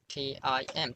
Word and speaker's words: Tim: T-I-M. How to say it? Yes, it's Tim.